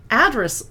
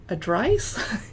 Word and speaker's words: Address: Address wines, I had trouble with because to me it looks like adrice. It's address, like what's at your address.